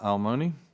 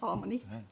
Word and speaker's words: Almoni: Next up, we have Almoni, representing technology. Did I pronounce that right? You did. Close enough, Almoni.